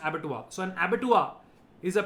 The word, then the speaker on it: abattoir: So such a place is called an abattoir. Abattoir. It's called an abattoir. It's written as abattoir, but it's pronounced abattoir.